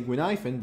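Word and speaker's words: Guinaifen: It feels still weird to say Gwynhyphen, but that's how the game says that it's supposed to be said.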